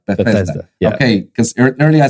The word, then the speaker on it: Bethesda: Bethesda Bethesda okay so I said it right Bethesda okay cuz ear I said be where' that